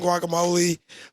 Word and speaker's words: guacamole: We have chips and guacamole. Guacamole? Guacamole. Okay. Walk. Walk. G is silent. The G is silent.